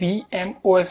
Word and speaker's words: VMOS: इसको सबसे पहले तो बता दूं, VMOS प्रोनाउंस नहीं करते, इसे VMOS प्रोनाउंस करते हैं, वर्चुअल मशीन OS।